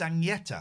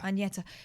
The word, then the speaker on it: Agnetha: I mean, Can we say her name properly? It's Agnetha. Agnetha.